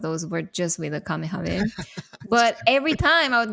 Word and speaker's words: Kamehameha: Kamehameha!